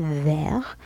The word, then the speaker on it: vert: vert أيضا في vert ماذا نلاحظ؟ le T لا ننطقه. لماذا؟ c'est une lettre muette. إذن هو حرف أصم.